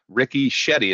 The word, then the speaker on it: Ricky Shetty: basilico and i'd love to welcome my guest Ricky Shetty is that rice that how you pronounce it yeah you got it perfectly thanks